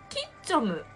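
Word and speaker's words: 吉四六: 岸よしよし 46 関係なくにかさよみやほキッチョム、キッチョムか、キッチョムなんだ。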